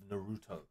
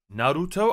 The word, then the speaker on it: Naruto: But I don't think it's Naruto. I think it's Naruto. Naruto. Naruto. Naruto. Yeah, it's a stronger emphasis on the A instead of making it sound like N-E-R. Naruto.